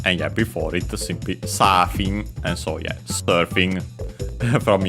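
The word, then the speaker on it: サーフィン: yeah, before it simply Safin, and so yeah, surfing from English. We quickly check its accent. Yeah, accented on the first syllable, so as expected, just like in English.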